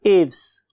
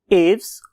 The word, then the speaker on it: Aves: का नाम है class एव्स. When I was listening its pronunciation, तो मुझे दो किस्म की pronunciation मिली. उनमें से एक एव्स और बहुत से लोग इसे एविस भी बोलते हैं.